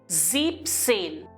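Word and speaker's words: siebzehn: Here the S is dropped from Zex and it is pronounced as Zek Zain. Zek Zain. Zeep Zain.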